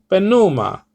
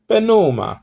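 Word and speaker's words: πνεῦμα: your voice okay um to say benuma you see how you see you're rising it a little bit you know not too much but just a little now if you were a greek you would you would uh you know pronounce this word penuma sort of an italian accent you know it's not really italian but that's just how they speak you know okay um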